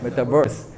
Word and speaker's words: 메타버스: 뭐 메타버스 얘기는 많이 아시니까. 그러니까 이런 게 애매한 거야. 다 아시죠? 네. 아, 네. 사실은 메타버스의 정확한 발음은 메타버스입니다. 그렇죠? 유니버스 할 때 메타버스.